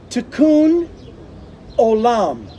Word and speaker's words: Tikkun Olam: It's Tikkun Olam.